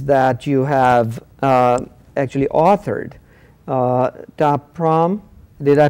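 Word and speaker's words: Ta Prohm: Taprom, did I pronounce that correctly?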